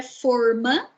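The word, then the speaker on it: fôrma: A palavra forma já tem um sentido diferente, né, com a pronúncia aberta.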